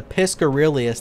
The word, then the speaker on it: Piscorelius: I got the Piscorelius, that's how you say it, favor earlier, and now we're working on Lovakinj.